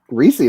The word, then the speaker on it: Ricci: Well, it should be Ricci, but my great great grandfather, we think, wanted to anglicize the sound of it, so he changed it to Ricci.